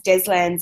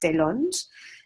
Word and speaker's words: Deslandes: sides are from what my name which we now say as deslandes is a French name that once upon a time would have been pronounced dead lunge and is pronounced de l'inde when I mean french-speaking countries and then people realize